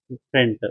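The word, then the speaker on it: freight: सामान या भाड़ा जिसका फ्रेंट, उच्चारण क्या होता है? फ्रेंट, फ्रेट, फ्रेट, एफ आर ई आई जी एच, फ्रेट, फ्रेट, फ्रेट मतलब फोर्ट मतलब फाइट, लड़ाई होता है।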